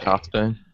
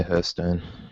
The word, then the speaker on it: Hearthstone: So what is your is it half stone cuz it's a half basically as in where the fireplace is. I know it's a halfstone isn't wow but uh the Americans say hurstone it might be an American non-American differentiation could be uh in